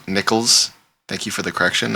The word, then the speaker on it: Nicholls: moments where uh kind of look like n Nicholls thank you for the correction I'm pronouncing that correctly now um was kind of